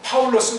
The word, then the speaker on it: 바울: 이게 어떻게 바울이 됩니까? 파울 해야죠. 바울하는 건 미국과 일본의 그 문법, 그 말투의 잔재라고요. 이게 좋은 것도 아니야. 이건 그 나라 사람들은 그런 발음에 길들었는지 모르지만 우리는 파울이라고 해야 된다고.